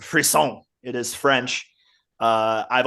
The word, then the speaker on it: frisson: excited too so the topic today uh is pronounced free song it is French uh I've always said frisen in my head because I've never actually really